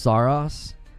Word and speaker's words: Saros: It's pronounced Saros.